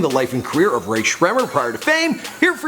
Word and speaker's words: Rae Sremmurd: And once they did find fame, well, they had to get to work teaching everyone how to pronounce their name. Say it, Rae Sremmurd. Rae Sremmurd.